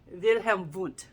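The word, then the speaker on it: Wilhelm Wundt: not being perfect, but you don't say Wilhelm Vunt. It's to the best of my ability, Wilhelm Vunt.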